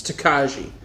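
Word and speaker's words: Tokaji: it right unless google screwed me over it's takaji hungarian dessert wine now takashi is aged in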